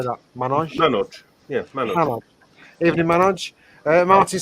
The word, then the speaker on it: Manoj: Manoj.